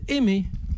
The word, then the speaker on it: Aimé: 「 Et son nom se prononce à la française, Aimé. Et mais vraiment en 2 syllabes et juste à l'instant.